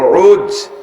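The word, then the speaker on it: عوج: এর আরবিতে উচ্চারণ হলো আইন ও জিম উজ, বাপের নাম উনুক, মার নাম সফুরা।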